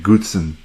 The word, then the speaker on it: Gutzon: a few things firstly it was how to pronounce his name Goodson Gutzon Borglum so Goodson was the son of